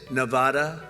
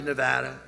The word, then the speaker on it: Nevada: heard and don't ever mispronounce the name you're not allowed to do that Jo you pronounce the name you got a problem you ever see somebody when they say it's Nevada NADA no they're they're in